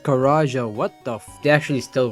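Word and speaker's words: Karaca: After the Tally Hall hiatus, Ross Featherman and Bora Karaka, okay, I'm freaking pronouncing that wrong, but excuse my freaking accent. It's actually pronounced Karaja, what the They actually still worked alongside with Joe Hawley, and also Subin?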